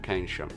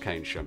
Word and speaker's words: Keynsham: of clips I have to apologise for my pronunciation of Keynsham When I was there I pronounced it "Keynsham" Only later I realised it was pronounced "Kaynsham" I am sorry but in my defence, English